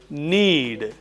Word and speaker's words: knead: The act of mixing it is called need. K N E A D.